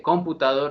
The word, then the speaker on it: computador: es una palabra aguda usted no dice computador ni computador sino computador se le da más relieve a la última sílaba pero como no termina